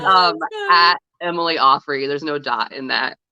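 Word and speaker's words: Auffry: even say it right apparently it's um Emily Offrey there's no dot in that um not on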